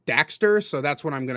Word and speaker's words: Daxter: his sidekick Daxter which the game pronounces as Dexter but it's spelled Daxter so that's what I'm